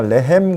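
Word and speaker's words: לחם: 두 번째 단어 이 레헴에서 처음은 라메드고 그 다음 두 번째 자음은 헤트가 되는 거지. 헤트. 이래서 이 발음이 중요한 거예요. 레헴 그러면 레헴? 레헴이 뭐야 이런데 레헴 그러면 정확하게 이게 전달이 된다.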